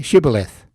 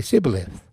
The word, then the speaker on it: Shibboleth: If he said no, they would say to him, Then say Shibboleth. And he would say Sibboleth, for he could not pronounce it right.